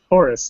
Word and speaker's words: Horus: of, I don't believe, I've never had to pronounce the name before. Horus? Horus, thank you.